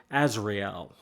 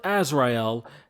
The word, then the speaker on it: Azrael: And yes, to everyone else, Azrael is a Hebrew name. It is a biblical name too, so it's said different than kind of how it's spelt. But Azrael, as he is the